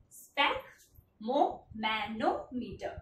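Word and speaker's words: sphygmomanometer: use the instrument name as stack moment meter spec mo mano meter this is the way how to pronounce it pesky is the unit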